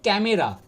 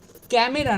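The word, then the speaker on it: camera: সেটা দেখো এখানে আছে ক্যামেরা। আমরা সবাই ক্যামেরা বলতে ক্যামেরা বলতেই জানি। তা এটার অ্যাকচুয়াল প্রোনাউন্সিয়েশন না, প্রোনাউন্সিয়েশন, ঠিক আছে? অ্যাকচুয়াল প্রোনাউন্সিয়েশন কী হবে দেখো তোমাদেরকে আমি বলি। ক্যামেরা না ক্যামরা, ক্যামেরা নয় ক্যামরা।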